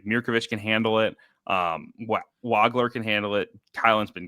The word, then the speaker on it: Wagler: has been, or Keaton Wagler, excuse me. The pronunciation has shifted on me, and this is no good. I've trained my brain to say Wagler. It's Wagler. Like, they love having this